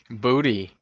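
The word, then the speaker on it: Boutte: Do you know how to pronounce his last name? Booty.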